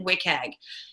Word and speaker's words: WCAG: content accessibility guidelines which it's abbreviated WCAG we pronounce it wick egg and that's a set